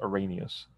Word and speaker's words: Arrhenius: uh one is the arrhenius definition this is pronounced arrhenius ar h e and ius i'll tell you